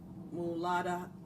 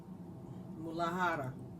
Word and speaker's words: Muladhara: Its name is Mulahara. Muladhara. I can pronounce it, but I'm just not being able to right now.